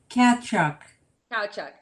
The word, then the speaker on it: Kachuk: pronounce your last name for me it's a cat chuck okay so i didn't want to mispronounce that but jordina thank you so much